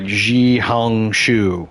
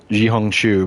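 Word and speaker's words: 小红书: competitor called red note it's like xiong shu is how you pronounce it in Chinese but or in Mandarin but uh jiong chu but uh in it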